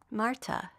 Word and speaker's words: Marta: "Marta," she said, the circle properly drawn, her name being Marta, though her husband pronounces the T as a D, which I tried, but the T came out muddy.